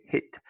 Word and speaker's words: hit: Ici, tu vas dire hit. Il faut pas hit. Parce que c'est un son court.